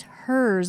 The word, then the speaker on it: Herz: wonderful people that listen so they also get aligned with hers opposite of his is how it's pronounced you know I'm I'm